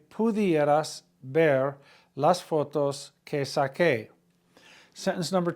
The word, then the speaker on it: saqué: The yo form is saque, S-A-Q-U-E, accent on the E. Again, quiero que vengas a mi casa para que puedas ver las fotos que saqué.